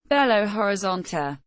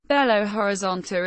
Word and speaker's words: Belo Horizonte: Belo Horizonte, Portuguese pronunciation, ʻbɛloɾiˈzõtʃi, beautiful horizon, is the 6th largest